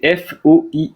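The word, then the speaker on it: Foix: s'écrit comment ça s'écrit foi c'est f O I X le château de foi avec un X à la fin et c'est pas comme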